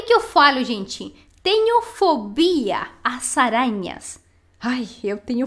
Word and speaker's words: fobia: Em espanhol, fobia. Perfeito? Claramente tem diferente sílaba tônica, né? Aqui a gente carrega a voz em fobia, em espanhol, e em português seria fobia. Então, repete.